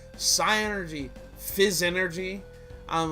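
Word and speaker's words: Psynergy: Why do you call it fizz energy? It's psi energy, not fizz energy.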